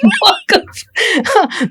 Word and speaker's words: Waqf: But again, we don't look at my pronunciation of Waqf is going to be a bit of a problem here. I have a sort of a Malayali pronunciation where I call it Waqf.